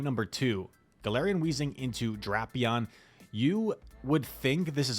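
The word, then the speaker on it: Drapion: That is the official pronunciation, by the way. Draion. I used to always say Drapeon.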